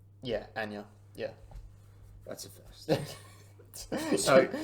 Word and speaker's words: Anya: Yeah, Anya.